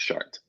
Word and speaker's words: Chartres: It's called Chartres. That's Chartres, pronounced Chartres.